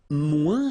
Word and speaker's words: moins: Remember, we don't pronounce the final S. Then you put the adjective que, then, and the rest of the sentence. Okay? Elle est moins rapide que moi.